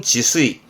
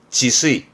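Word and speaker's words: 自炊: 이걸 또 이렇게 쓰면 이게 자취죠 자취생이 자취 발음은 지수이 지수이 이렇게 쓰면 뒷글자는 밥 반짜라 취반이라 발음을 쓰이향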